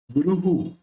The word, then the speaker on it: गुरुः: सूरो महाभूत पतिर्गुरु, पतिर्गुरु, ये जो रेफ है उसको यहां लेना और ये विसर्ग है उसका हु प्रोनाउंस करना है, गुरुहु, महाक्लेशांकुशः सूरो महाभूत पतिर्गुरु,